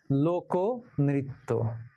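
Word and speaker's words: লোকনৃত্য: এখন মধ্য আয়ের পরবর্তী ব্যঞ্জনে কি আছে, এই যে নয় রিকারে নৃ আছে, এই রিকার থাকার কারণে ক এর সঙ্গে যে অ আছে ক অ, সেই অটা ও হয়ে যাবে। তাহলে লোক নৃত্য নয়, লোক নৃত্য।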